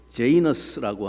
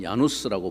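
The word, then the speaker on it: Janus: 1월 달을 영어로는 제뉴얼리라고 부르는데이 제뉴얼이라고 부르는 것은 어원이 어떻게 되었나 살펴보면 로마 신화에 나오는 제이너스라고 하는 신이 있습니다.에 라틴말로는 야누스라고 보통 불리는 야누스라는 신의 이름인데요.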